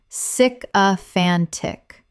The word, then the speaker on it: sycophantic: Correct pronunciation: sycophantic. Four syllables with the stress on the third, meaning excessively flattering.